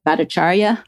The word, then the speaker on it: Bhattacharya: I mean, he is, so am I pronouncing it right? Bhattacharya?